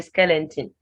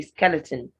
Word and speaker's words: skeleton: swallow squat squat skeleton in skeleton there's only one n and it's at the end so don't say skeleton just say skeleton steak the a in